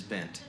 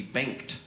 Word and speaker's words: Bengt: bam we say ben in sweden you would actually pronounce the g it would be banked uh but here in